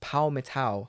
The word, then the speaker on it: Palmital: p-a-l-m-i-t-a-l but i made sure that i can pronounce it before we started it's paul metal let me turn rod back up and see